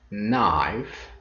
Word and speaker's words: knife: For example, in the word knife, the letter K or K is silent when spoken.